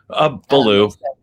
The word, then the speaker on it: Baloo: Baloo. This is Baloo. Yes. So like the bear. Yeah. Like blue, the color, but with my accent.